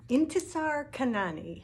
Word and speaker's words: Intisar Khanani: this one it's called thorn and it's by intesar kanani i had to look up how to pronounce that one but it's pretty good this